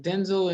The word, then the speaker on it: Denzel: really the proper way to say his name denzel and pauletta is um she also was an